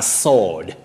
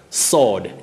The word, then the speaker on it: sword: is pronounced as a sword sword w is not pronounced in that word for a weapon you say sword for